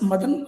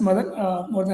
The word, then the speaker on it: Madhan: Um yeah to start with uh as you all know it's madan madan wlami to spell it right. Some people get it right some people don't but I'm happy if they call me as mother than happy be there and